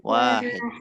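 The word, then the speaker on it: واحد: Wahid. Wawunya panjang. Wahid. Wahid. Wahid. Betul.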